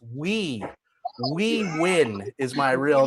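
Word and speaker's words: Huy: I have the Americanized name, but my real name is spelled H-U-Y, and it's pronounced We Win is my real name.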